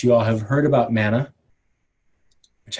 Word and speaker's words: Mana: all have heard about mana which I think actually is properly pronounced mana so let me try it again mana this is a new